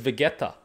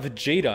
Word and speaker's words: Vegeta: it with me because we pronounce it as vegetta and so they start talking about Vegeta I'm like where's the J and then I